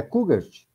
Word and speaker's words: Kujat: É Kujat ou é Kugart? É Kugart. Kugert. Kugart, agora sim, agora aprendi.